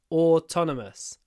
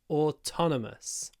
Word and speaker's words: autonomous: in Spain it's autonomous remember at the beginning o the double sound o autonomous autonomous the next one vam